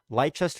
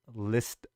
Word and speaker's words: Leicester: is here appreciate that lightchester is pronounced list Leicester okay well there we